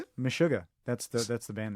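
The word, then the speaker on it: Meshuggah: It's a band called Mishuga.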